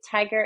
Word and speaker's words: Tigar: can go to the tiger agency tiger is spelled with an A but pronounced like the animal so t-i-g-a-r and then I am also with an a um tiger on Instagram so either